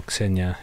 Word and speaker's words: Ksenia: So yeah, like my wife's name's Ksenia, or Ksenia, if you want to pronounce it correctly, and we talk about this all the time.